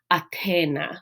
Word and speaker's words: Athena: So for example, Athena's name might be pronounced more like Athena with a t sound, right?